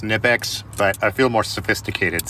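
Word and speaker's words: Knipex: got the good trusty nypex here i know it's pronounced nipex but i feel more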